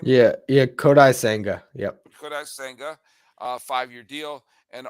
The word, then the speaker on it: Kodai Senga: do is it kodai senga how do you pronounce the dude's name yeah yeah kodai Sanga yep uh five-year deal and oh yeah Justin